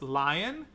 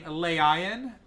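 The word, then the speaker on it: LAION: creation of the lion it's l a i o n which I'm going to be pronouncing as lion because that name okay um I'm not going to be like saying leion because there's AI in there leion no I'm not going to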